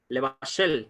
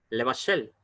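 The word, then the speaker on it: לבשל: Levashel, mire, casi ni se pronuncia la E. En comparación, por ejemplo, con la E corta de piedra, even, levashel, egos, vet.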